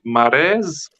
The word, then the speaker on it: Mares: the comments this Adam mares how do you pronounce it like like a horse like a man just like a horse rhymes with hair he was talking a